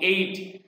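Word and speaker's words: ate: মানে ধরলো, অ্যান্ড এবং এইট এটা উচ্চারণ হবে American pronunciation, এইট, এইট, এইট ধরে ফেললো, কাদের খেয়ে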